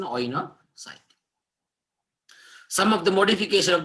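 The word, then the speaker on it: coenocyte: Oinocytics. C is silent, we call it as an oinocyte.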